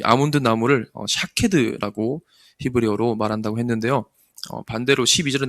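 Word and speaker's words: שָׁקֵד: 이 아몬드 나무는 히브리어로 샤케드라고 이렇게 발음을 한답니다.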